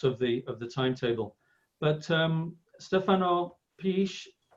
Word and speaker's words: Pietzsch: But Stefano Pietzsch, how do you say your surname, Stefano? It's called Pietzsch.